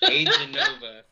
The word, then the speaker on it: Aeganova: It's different, and there's only one Aeganova, so it works. People do get mixed up. Like I had some buddies. They're like, "Oh, how's your band Aeganova doing?" I said, "Aeganova."